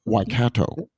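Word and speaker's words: Waikato: I would say the odds are incredibly high because I did Google the pronunciation of Wicato and I know I'm saying it correctly.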